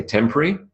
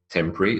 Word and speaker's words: temporary: an example of where you do hear people doing two or three I say temporary temporary it's two syllables but some people say temporary temporary so temporary is three syllables temporary is two syllables if you said two if you said three that's both fine insufferable insufferable is four